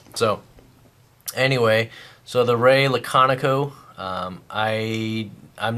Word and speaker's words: Laconico: be looking at the Ray laconico or Ray lockanico not sure how to pronounce it but I I think it's laconico um so Ray if